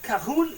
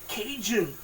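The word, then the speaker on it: Cajun: count how many people told me that I pronounce it wrong. That's not recite. It's recipe. Now I know it's recipe. And kahun isn't kahun. It's kajun.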